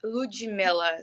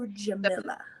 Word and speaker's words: Ludmila: so it's Ludmila. So the D on my name and sounds more like a G whenever you say it. So, Ludmila.